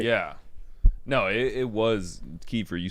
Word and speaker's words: Kiefer: No, it was Kiefer.